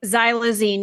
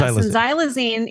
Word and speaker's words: xylazine: Tran uh how was how do you pronounce this zy xylazine it is xylazine yes xylazine is actually used in the